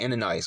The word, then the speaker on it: Ananias: Ananias.